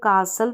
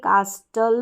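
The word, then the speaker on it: castle: अ एक sand कासल इसको कासल पढ़ेंगे कास्टल नहीं पढ़ेंगे टी यहां पर साइलेंट है सैंड कासल रेत का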